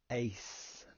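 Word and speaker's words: εἰς: Ace, the epsilon and iota make an A sound, so I put the phonetic pronunciation as ace, like in the pack of cards.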